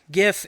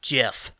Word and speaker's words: GIF: The G doesn't make a J sound. No. I don't care what kind of English you speak. It doesn't make the J.